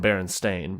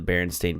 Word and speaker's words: Berenstain: that way but I remember her saying Berenstain and saying it was pronounced stain even though it was